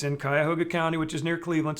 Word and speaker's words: Cuyahoga: No, the people in Cuyahoga pronounce it Cuyahoga.